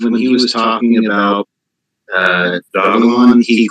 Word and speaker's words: Dogelon: So on the first website, it was announced as Dogelon. Okay. So that's how they want us to pronounce it.